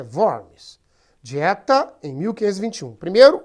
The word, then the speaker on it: Worms: Creio eu que a pronúncia em alemão é Worms.